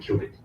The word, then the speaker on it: qubit: We call it qubit. Okay, so now you can pronounce everything. It's a Q, and this is a bit.